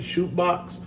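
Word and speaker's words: Chute Boxe: He went to I think you pronounce it shootbox in Brazil.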